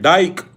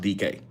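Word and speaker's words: Dike: They call him Some people say Shamir Dyke. Uh some people say Shamir DK. His name is pronounced DK.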